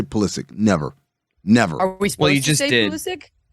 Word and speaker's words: Pulisic: like Christian Pulisic, I will never say Pulisic.